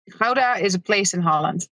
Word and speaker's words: Gouda: This, by the way, it's pronounced Gouda. I just want to say that because, everyone in America needs to understand that it's not Gouda, although it is good.